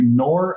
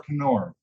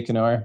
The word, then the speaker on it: Knor: that let me ask is the K silent are you nor or Conor uh it is silent but it's right it's easier to say kenore so I wish it was gonna work because people don't ever understand what my name is yeah Dr Noor